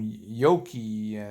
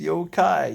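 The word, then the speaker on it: yōkai: especially she kept on calling them yoky know that and I kept saying no it's yokai yokai you know yeah you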